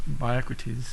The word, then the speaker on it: BIOCRATES: Actually, it's pronounced BIOCRATES. If you can think of Socrates, that can help you remember that.